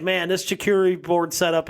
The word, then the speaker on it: charcuterie: I think charcuterie is my word, because I still say it wrong. Yeah. Every once in a while. I'm still not confident you're saying it right now. It's charcuterie. But I it's a soft seat.